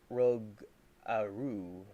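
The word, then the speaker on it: rougarou: And I've said this a long time now, and Gam is telling me the right pronunciation. If you want a Louisiana cryptid, look up Rugaroo. Rugaroo.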